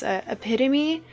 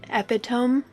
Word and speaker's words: epitome: Like, an embarrassing one was epitome. For a very long time I pronounced it epitome. Because that's how it reads.